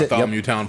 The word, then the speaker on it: Bartholomewtown: Yeah, so he runs a podcast among many other things called the Bartholomewtown. Am I pronouncing that right? That's Bartholomewtown yep.